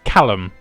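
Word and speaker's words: Kalm: I say calm as well, because that's basically what it is. It's just calm with a K. One of my friends called it calm, and the other one called it callum. And I was like, no, it's calm. Obviously, it's just calm. But nope, apparently it's callum as well. Calm. Yeah. Like the word, basically. Like the word calm.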